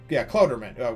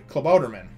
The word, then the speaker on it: Klabautermann: And he goes and he says, and he uses this big long name, and I think he calls it, Klautermann. Wait, no, I'm sorry, Klabautermann.